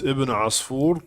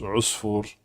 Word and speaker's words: ابن عصفور: Generally, his name is known as Ibn Asfur, but it sometimes can also be pronounced Usfur. But Asfur or Usfur, actually, it means a sparrow, or a little bird, kind of like a sparrow.